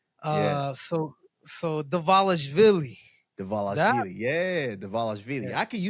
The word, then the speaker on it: Dvalishvili: I believe it's somehow it's the V, like it turns into a V. Yeah. So Dvalishvili.